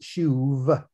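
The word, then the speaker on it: שוב: according to the hebrew is again s-h-u-b but it's pronounced shuv and that means to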